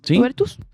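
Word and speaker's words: Goebertus: A ello se suma la advertencia internacional sobre el deterioro democrático en Perú expuesta por Juanita Gobertus. Así se pronuncia, Camilo. Gobertus.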